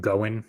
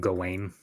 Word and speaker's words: Gawain: Also, if he's pronouncing it as Going instead of Gawain, then right.